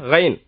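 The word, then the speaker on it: غ: அதுக்கடுத்து பாருங்க, கைன். கைன் இது இந்த காங்கத்து இல்லையா, கா கான்னு அந்த மாதிரி உச்சரிப்பு, கைன்.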